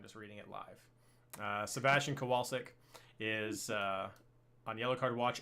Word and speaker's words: Kowalczyk: Acosta for Cincinnati, Damian Lowe for Philadelphia, Sebastian Kowalczewski. Sorry. Yes, he expected me to pronounce it, and of course I did it without reading his note. So Kowalczyk.